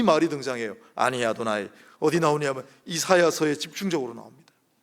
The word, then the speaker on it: 아도나이: 나는 여호와라라고 하는 이 부분은 사실은 여호와라고 읽지도 않아요. 유대인들은 아니 아도나이, 아니가 나는이고 아도나이라고 읽어요. 아도나이는 주인, 주라는 말입니다. 나는 여호와라고 써놓고 그냥 읽기는 아니 아도나이라고 읽어요.